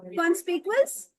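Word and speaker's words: conspicuous: Good, the right pronunciation is कॉन्स्पिकुअस। कॉन्स्पिकुअस नहीं है, इट्स कॉन्स्पिकुअस।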